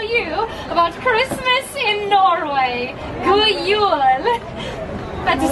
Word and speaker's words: God Jul: God Jul.